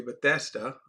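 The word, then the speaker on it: Bethesda: and went to the pool of Bethesa, okay, Bethesa, okay, that's I think proper pronunciation of the word.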